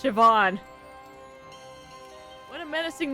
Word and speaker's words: Siobhan: Seopan. It's pronounced Siobhan.